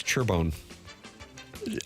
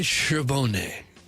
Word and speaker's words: Charbonnet: And then her last name is Churbone. Ali Charbonnet. It's French. You didn't pronounce it correctly.